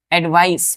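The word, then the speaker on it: advice: एडवाइस, pronunciation पे ध्यान दीजिए, एडवाइस हो जाएगा।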